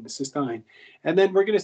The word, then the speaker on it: cystine: would be considered cystine so this is the pronunciation here is cyst um you would say like Ein cystine cystine and then we're going to see cuis t